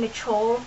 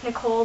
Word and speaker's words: Nichole: It's actually just from my name, Nichole. It's, a lot of people say Nicole, but it's N-I-C-H, and I pronounce the H so people know how to spell it right.